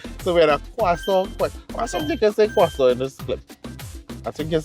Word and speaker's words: croissant: All right, so it's croissant time. Or does it say croissant? Because we got the correct pronunciation.